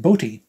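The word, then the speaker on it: Botti: area Chris B is his name it's not pronounced B it's pronounced bti uh notice the the long uh the bar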